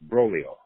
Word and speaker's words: Broglio: It's pronounced Broglio.